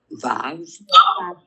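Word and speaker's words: ו: Vav. That is your vav. So the vav is your V sound.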